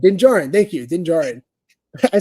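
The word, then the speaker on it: Din Djarin: is the first appearance of D pronounced his name wrong Dingjarun Dingjarun thank you Dingjarun I said it wrong for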